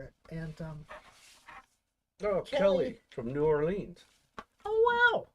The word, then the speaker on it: New Orleans: And oh, Kelly from New Orleans. Oh wow! Or as they say down there, Narlands.